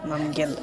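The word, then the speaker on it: Namgyal: Max name is uh n a m g-y-a-l mangle so L if you had luck let's create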